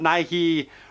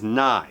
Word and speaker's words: Nighy: last name it's not Nike or anything else he's confirmed his actual pronunciation is nigh so don't get confusion